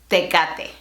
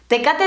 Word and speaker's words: Tecate: Y hablando de cerveza, ¿sabes cómo pronunciar esta marca? Tecate. Tecate is a city in Baja California, and it